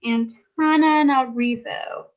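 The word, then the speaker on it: Antananarivo: that nice so from what i learned it's pronounced antanana rivo lot of ends and tana looks like a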